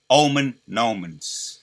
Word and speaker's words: Omen Nomen: Omen Nomens. That's how you say it. It's Omen Nomen.